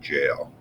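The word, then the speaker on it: gaol: the same thing and it's pronounced the same way it's just spelled in that different way so those are the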